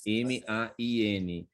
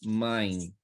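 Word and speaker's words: Main: muita cidade chama mamãe ma&na por isso que a gente fala assim Francisco Não mãe mãe que é mãe não é Man porque alemão não pronuncia assim né ma&na gente pronuncia mãe então por isso que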